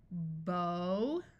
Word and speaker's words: bow: Let's practice a word that can be pronounced either way with a different meaning for each pronunciation. Bow, bow.